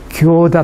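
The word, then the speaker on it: 行田: 동네가 있습니다 이거 갖다 이렇게 행전이라고 쓰고선 교다 발음을 해요 교다 근데 이게 교라고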